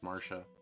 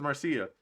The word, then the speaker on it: Marcia: i like i can't believe her name is marsha i'm not going to get over that your name is marcia i hate everything oh euna's laughing at me